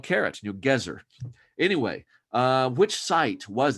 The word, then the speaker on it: Gezer: impolite so there's no that's a good reason to pronounce it the biblical way the hebrew way gezer gezer's the hebrew word